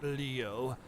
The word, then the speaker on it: Leo: and venerable Le AI it's written with the Kani for lion to be sure but it's pronounced Leo I wait you you're